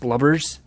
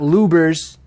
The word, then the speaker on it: Lubbers: My last name is pronounced Lubbers, Lubbers, Lubbers. You know, not Lubers, okay?